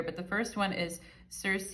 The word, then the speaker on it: Circe: first one is Circe, and I know some people pronounce it Kirky, right? But I'm going to use Circe. I'm going to use the name Circe because that's what I'm used to saying, okay? But some people it's Greek, and some people say